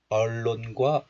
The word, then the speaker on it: 언론과: Right, so this letter is pronounced as on in isolation, but look at the final consonant. The final consonant 니은 is followed by the first consonant real. So this 니은 is assimilated into real sound.